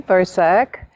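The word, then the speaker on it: Vrzak: Well, hi, I'm Versack. Last name is spelled V-R-Z-A-K.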